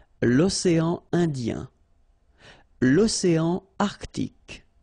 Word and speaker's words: Arctique: L'océan Arctique. Remember, tic, ic.